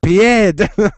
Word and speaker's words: pied: see you Pi it's it's French it's pronounced pied pied pipe um now